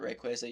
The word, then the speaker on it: Rayquaza: Pronounce it Rayquaza, you're crazy.